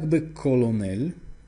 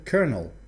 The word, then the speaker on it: colonel: Например, полковник, который вот здесь как бы колонель, так или иначе, а на самом деле он читается как colonel.